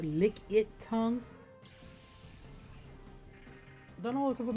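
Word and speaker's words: Lickitung: Licky tongue. I don't know. I keep pronouncing it as licky tongue. It's actually pronounced lick tongue.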